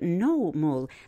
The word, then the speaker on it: Nohmul: The largest pyramid on the site of No-Mul, that's spelled Nohmul. It's also known as No-Mul, 2 words.